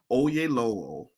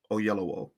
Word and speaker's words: Oyelowo: Back to David Oyelowo. Oyelowo.